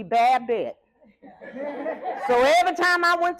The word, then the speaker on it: Babette: how to pronounce it my name is pronounced the French pronunciation is puppet my mama pronounced me bad bit so every time I